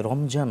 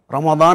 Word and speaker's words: রমাদান: কোরআনের শব্দ রমাদান আচ্ছা আমরা যে প্রচলিতভাবে রমজান বলি তাহলে কোন শব্দটা বললে সওয়াব হবে শব্দ রমাদান আমাদের দেশে এমনিতেই দোয়াকে অনেক সময় এভাবে আমরা বলি আর কি জাস্ট উচ্চারণটা হচ্ছেন বলি আমরা রমাদান বলতে হবে এবং হাদিসে স্পষ্ট করে